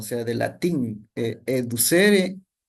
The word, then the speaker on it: educere: Esa es la definición de por lo que significa mejor el término educere o, bueno, algunos lo pronuncian de diferente manera, pero yo le digo así, educere.